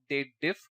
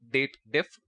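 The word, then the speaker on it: DATEDIF: and then we have date diff usually most of the excel users pronounce it as dated if but it's date difference so date diff then we will see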